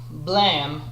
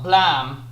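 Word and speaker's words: Blame!: uh nihe's work uh blam uh at least that's how i'm pronouncing it it's not like blame because it's supposed to be the the sound that a gun makes when it goes off so so i'm so the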